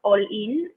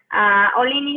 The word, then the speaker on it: Ollin: It's called All In, which is spelled OLLIN. Olin is a Nahuatl voice.